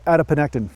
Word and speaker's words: adiponectin: check again is it adiponectin yes it's called adiponectin who makes these words up who does this